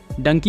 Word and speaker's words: Dunki: का एक तरीका है इसका उच्चारण डंकी होता है इसका उच्चारण फंकी हंकी या हां मंकी जैसा होता है आपका इस मूवी